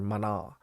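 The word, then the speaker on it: Maná: know who the hell Mana is or Mana that's how they say it and um when I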